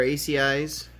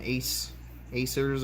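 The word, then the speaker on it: Acei: we still got our AC eyes I guess I was pronouncing it wrong I always call them ace Acer's or ace fish it's like AC I believe they typically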